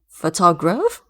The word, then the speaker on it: photograph: The emphasis is now shifted to the first syllable.